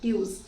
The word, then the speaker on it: tu es: You know the spellings of Tuesday? Let's start. Just split it into two parts. Tues, okay? But we call it tu es.